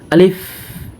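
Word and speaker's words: ألف: মুখ নামাবো তখন বসাব দেখেন আমি কিভাবে বলি আলিফ আলিফ দেখেন বাতাস বের হবে আলিফ যদি বাতাস বের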